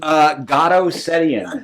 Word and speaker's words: Garo Setian: How you pronounce your first name? Garo Setian.